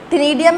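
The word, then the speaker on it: ctenidium: टिनिडियम में सी साइलेंट है, टिनिडियम गिल्स।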